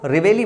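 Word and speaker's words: reveille: signals in the morning उसको रेवेली बोलते जगाने का बिगुल बोलते हैं आर ई वी ई I double L ई इसकी स्पेलिंग भी याद रख लो आर ई वी ई रेवी याद कर सकते हो फिर आइली याद कर सकते हो ऐसे स्पेलिंग याद करना थोड़ा मुश्किल रहता है तो इसको ब्रेक करके याद करो रेवी याद कर सकते हो आयली रेवेली बोलते हैं अच्छा आपने भाग मिलखा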